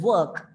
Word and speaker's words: work: When the work, in the word work, the R goes silent.